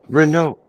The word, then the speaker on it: Renault: in uh Canada either is it pronounced Renault or Renault Renault yeah I don't know speaking like a Frenchman Renault the T silent yeah a little bitty